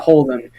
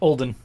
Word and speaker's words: Olden: uh the guy by Holden or Olden sorry not Holden jeez no a million different ways you can mispronounce that uh that name Olden yep uhor spray clor